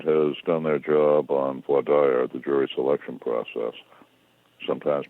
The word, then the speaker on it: voir dire: If the other side has done their job on voir dire, the jury selection process, sometimes pronounced voir dire, they will have screened out as much as possible gun enthusiasts, perhaps even gun owners.